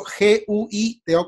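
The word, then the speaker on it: Güito: no colocaban W-I-T-O, sino G-U-I-T-O con la diéresis. Se supone que hubiera sido siempre así, G-U con diéresis, como se escribe, Guito, porque es como tragando, Guito, pero ya todo el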